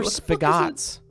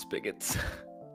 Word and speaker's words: spigots: that's not gonna get that yet what are spagots is that is that an italian dish what vessels with uh spagots 35 across vessels with boat vessels with spaghets it's pronounced spigots like spagot beef it's like spaghetti i think